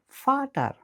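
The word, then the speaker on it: Vater: যার মানে ভি উচ্চারিত হয় ইংরেজি এফ এর মত করে। যেমন ফাটার মানে বাবা। আর ডাব উচ্চারিত হয় ইংরেজি ভি এর মত করে।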